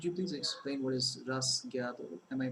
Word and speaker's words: rasgueado: Could you please explain what is rasgueado? Am I pronouncing it correctly?